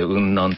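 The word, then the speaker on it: 雲南: 、これは雲の南と書いて雲南と読ませる、はい、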